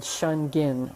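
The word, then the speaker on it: Shengen: Kind of gets things moving, and there's actually a point on the nose right between the haired and non-haired region called Shungen, and that's spelled S-H-E-N-G-E-N.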